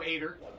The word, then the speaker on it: Ader: So, it is Joe Ader, not Joe Eder or Eater. It's Ader.